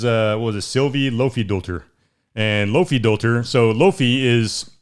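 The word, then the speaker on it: Laufeydóttir: So you and these names, man. Yeah, man, you got to get them right. Lofidolter. That's how you say it.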